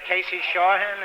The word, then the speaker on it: Casey Shawhan: Casey Shawhan, is that how you pronounce it? That's right.